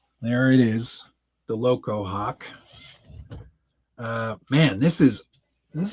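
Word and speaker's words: Hauk: There it is, the Loco Hawk.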